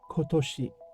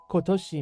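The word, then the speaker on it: 今年: word of the day with puppy s is kotoshi you should see it over here in Hiag and Ki kotoshi means this year in some cases you might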